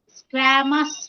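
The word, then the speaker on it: squamous: स्क्वैमस, क्या pronunciation इसका? स्क्वेमस क्यों है ना यहाँ पे, स्क्वेमस। तो ये साइलेंट है। स्क्वेमस है, हल्का सा बोला जाता है स्क्वेमस।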